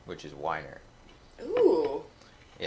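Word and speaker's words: Wyner: Well, I almost got my dad's name, which is Weiner. Ooh. Yeah. It's spelled how?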